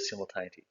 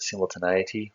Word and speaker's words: simultaneity: across this idea of simultaneity. You can pronounce it simultaneity or simultaneity, it's up to you.